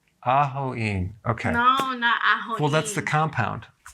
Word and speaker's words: ajoene: right so is it it's not a joking it's ah Hawaii okay well that's the